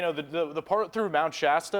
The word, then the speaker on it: Shasta: the the part through Mount Shasta that's how you say it right Mount Shasta Shasta Shasta over there think of the drink you know she has to drink Shasta yeah there you